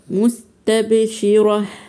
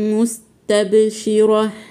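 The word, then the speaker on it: مستبشرة: ضاحكه ضاحكه مستب مستب الباء هنا ساكنه ودي من حروف القلقله مستبشره مستبشره برده هنقف على التاء بالهاء المهموسه يبقى هن ضاحكه ضاحكه ضاحكه مستبشره ووجوه يوم ووجوهي يبقى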